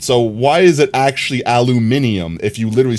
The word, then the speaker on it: aluminium: If you spell it with the second I, it's aluminium. Even on American English?